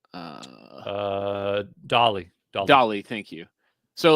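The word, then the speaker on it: DALL-E: one called uh uh dolly dolly dolly thank you so like da d8 like Dolly like the the um artist oh close because it's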